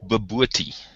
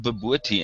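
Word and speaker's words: bobotie: We call it babooty. I'm trying to think. How would we spell it if I had to spell it the way we pronounce it? That's kind of difficult. But it's called babooty, and it's a mixture of spicy meat.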